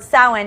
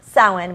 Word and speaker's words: Samhain: Sam for short because the word soin is spelled something weirdly enough because the gaelic words are just weird and so you say it like soin but it's spelled SAMHSA n Wow yeah but this